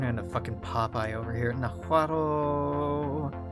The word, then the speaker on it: Nahuatl: Nahuatl. The L in Nahuatl is silent, but every time I see the word and I read it in my head, I always pronounce the L.